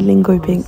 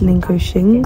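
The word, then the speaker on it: Linköping: hopefully so for all these times I say lingo ping it's actually pronounced lingo Shing so we're going to ignore that yeah um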